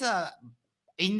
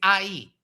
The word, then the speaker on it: Ai: but there's there is a in the Old Testament a story about a city called I basically Ai, right? But the pronunciation of that word in Hebrew is IIE, not AI.